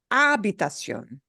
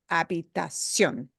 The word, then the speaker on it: habitación: So in other words, you wouldn't pronounce it habitación or habitación. It's habitación. You punch the O at the end just a little harder.